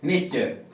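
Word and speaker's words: nature: इसको क्या पढ़ोगे नेचर तो ध्यान रखें जब किसी भी स्पेलिंग में टी यू आर का कॉमिनेशन अगर बन रहा है तो इसको आपको क्या पढ़ना होगा प्रोनंसिएशन चर करना होगा तो ध्यान रखें इसका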